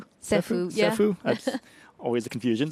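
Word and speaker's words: Ceffu: uh you guys use Sefue and if I pronounced that rightfue Sephu Sephu that's always a confusion so uh yeah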